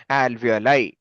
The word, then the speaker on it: alveoli: Alveol. Alveoli. Yeah. എവിടെയെങ്കിലും നോക്കിയിട്ടാണോ പറയുന്നത്? No, sir. No. Okay. I just cannot read properly. Okay. So the right answer is alveoli.